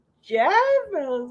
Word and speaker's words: Geoff: And they're like, Jeff?